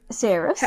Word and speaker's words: Saeris: But you pronounced our female main character's name correctly. Hell yeah. So, Saeris. How about you name the word and I'll tell you like who they are. So Saeris, yes, is our female main character.